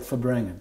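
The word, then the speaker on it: farbrengen: As I recall, because the R was left out, okay? First in far, when you pronounce it, it sounds like Fabrengen. You don't hear the R, okay?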